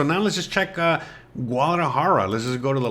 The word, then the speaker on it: Guadalajara: heard great things of Guadalajara Guadalajara that's how you say it okay I'm just trying to say it in English bruh but it's a Guadalajara